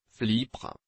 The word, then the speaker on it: Flipr: charge à ce titre flipre se prononce comme le nom du célèbre Dauphin se présente comme la